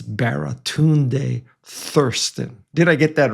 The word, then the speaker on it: Baratunde Thurston: And I hope I get his name right because he said no one has ever mispronounced his name. I don't want to read the first one. It's Baratun Thirsten.